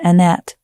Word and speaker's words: Annett: So Kevin Annette Annet I believe he's he pronounces he and he's very particular about this. Sorry about that. I don't know. I I've just been told but I was saying Annette I was told it's Kevin Annette.